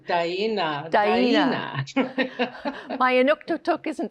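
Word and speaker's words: Tainna: literature for your book, Tatiana. Do you want to pronounce that? No, it's Daina.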